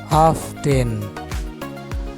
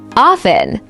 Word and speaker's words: often: ভুল উচ্চারণ, often, সঠিক উচ্চারণ। often, Orphan.